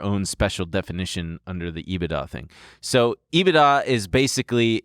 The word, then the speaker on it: EBITDA: i didn't know that's how you say it ebitda it stands for earnings before interest taxes i